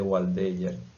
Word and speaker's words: Waldeyer: Entonces, eso es la estructura que llamamos anillo linfático de Waldeyer. Waldeyer, o anillo linfático de Waldeyer. Así es que se escribe, así se llama, eso es una D, anillo linfático de Waldeyer.